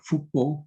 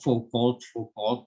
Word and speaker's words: Foucault: Ini dibacanya Foucault karena dia orang Prancis ya. Jadi jangan kesleo-sleo, Foucault gitu ya.